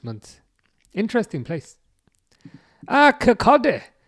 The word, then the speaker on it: Kirkcaldy: Kirkcaldy. It's Kirkcaldy. Yeah, I think the L is not pronounced from what I remember, but I think that's nearby.